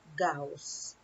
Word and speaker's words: Gauss: carl frederick cows so his last name is pronounced gauss is a german mathematician and physicist who made